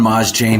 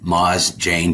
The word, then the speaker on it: Mozdzien: Ma Jane. That's how you pronounce my last name. Ma Jane.